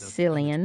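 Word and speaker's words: Cillian: I've always mispronounced it as Silian. Problem and also to encourage the keepers to fight. Like Silian Murphy.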